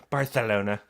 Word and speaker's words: Barcelona: And actually, it's pronounced Barcelona.